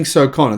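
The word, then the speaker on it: Sokon: This Chongqing Socona, that's actually how you pronounce it, by the way.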